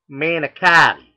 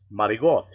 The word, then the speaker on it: manicotti: Like out here on the West Coast, it's manicotti. On the East Coast, and if you're Italian, it's marigot.